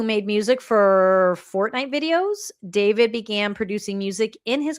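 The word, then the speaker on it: d4vd: This is rapper, apparently pronounced this David, his name is David, American singer-songwriter who rose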